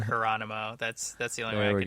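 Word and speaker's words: Hieronymo: The Sam Hieronimo takeover, I believe is the way to pronounce that. That's how I do it. Like Geronimo, but Hieronimo.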